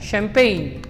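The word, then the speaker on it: champagne: है N के पहले इट इज not producing any sound, ना ही वो ग साउंड प्रोड्यूस कर रहा है और ना ही वो ज साउंड प्रोड्यूस कर रहा है, तो इट is considered as silent. Correct तरीका होता है इस वर्ड को पढ़ने का वो होता है शैम्पेन।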